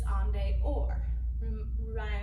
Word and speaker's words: en dehors: So rond de jambe going forward and out, that is your outside, which is en dehors. Rhyming with open the door, en dehors.